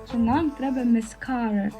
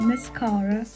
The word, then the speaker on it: mascara: також є brow gel mascara до речі дівчата запам'ятайте наголос іде саме на другий склад mascara mascara eyelash cola col ось